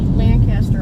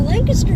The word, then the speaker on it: Lancaster: to say that well lancaster is actually more correct lancaster's kind of the american version because we pronounce everything folks over in england would call it lancaster so just like worcestershire